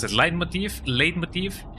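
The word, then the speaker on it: leitmotif: All All of my life I've been pronouncing it lead motif, but it supposedly it is a light motif or something of the sorts something like that.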